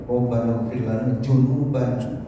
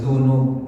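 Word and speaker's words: ذنوب: Dal dengan Zai ini ada yang membacanya itu cenderung kepada Jim atau kepada zaf junuban jadi bukannya zunub dosa tapi junub kami ya Allah e ditongong diampuni jadi kan Lain ya antara zunub dengan junub ya ini kadang-kadang eh beda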